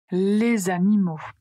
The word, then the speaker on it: les animaux: Par exemple, les amis, les amis, les animaux.